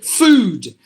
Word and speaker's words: food: they would say food some of some of the speakers food but it should be food look at that there these two words have got the same um two o's but it's pronounced differently here it is foot with a short sound here it is a food with the long sound you have to get